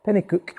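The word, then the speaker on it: Penicuik: for her and then I'm drove up to Penny cook near Edinburgh is that how you say it Penny cook yes Penny cook Penny cook I'm sure with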